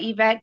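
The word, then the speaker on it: Yvette: are you there m did I get the pronunciation last name right yes she said Evette Greer yes good morning good morning that g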